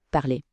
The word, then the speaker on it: parlez: Le moin e z se prononce comme un e fermé. Pensez au mot café. On dit donc vous parlez.